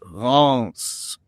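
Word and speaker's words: Reims: Think of pronouncing the name of the country, but instead of saying France, drop the F and it's Ronce.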